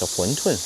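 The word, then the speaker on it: 馄饨: And the Chinese pronunciation is Huntun.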